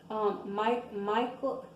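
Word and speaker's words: Michal: Michael, it's hard for me to say her name because it sounds like Michael, but it's not spelled exactly the same.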